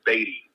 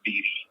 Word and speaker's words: Beatty: I just wanted to call and let you know it's pronounced Beatty, not Beatty.